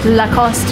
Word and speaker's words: Lacoste: Okay, Lacoste if you want to be more French.